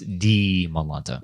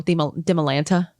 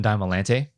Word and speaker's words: Dimalanta: Don't base Dimalanta off of Demi. It's Dimalanta. Yeah, and then even so, Dimalanta. Get that? I've gotten Dimalante.